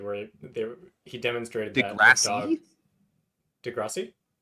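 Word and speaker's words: deGrasse: was um a Neil Degrassi Tyson episode where they he demonstrated thatass de Grassi I've never heard it de Grassi like de grassy Hill degrass always heard it Neil degrass Tyson Neil deg grassy Tyson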